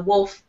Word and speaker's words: wolf: teeth, and so the wolf says, you forgot to ask me that part. So, Vincenzo, this word here, wolf, say the L more, wolf.